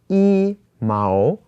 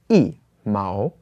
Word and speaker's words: 一毛: has the second tone, then the E changes to the fourth tone and it becomes E. So here it's not E Mao, it is E Mao.